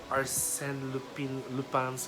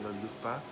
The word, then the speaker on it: Lupin: And the 5 episodes you will see how smart Lupin's character is. So I'm pronouncing the French way, Lupa, but I think if you're in the Philippines, just say Lupin, Lupin, but it's Lupin.